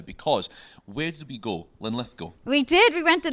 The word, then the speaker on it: Linlithgow: We're here in Linlithgow, I'm saying it correctly.